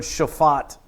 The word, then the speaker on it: shaphat: The word judge is the Hebrew word shaphat. Shaphat. It's spelled shophat.